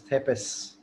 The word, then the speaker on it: Thespis: known as a tragedy, Thespis, or you can pronounce it as Thepis. So there are three different pronunciations prevailing.